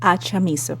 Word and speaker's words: Achamizo: And with me here in the studio is Victoria Victoria, can you help me with the pronunciation of your last name? Yes, Achamizo.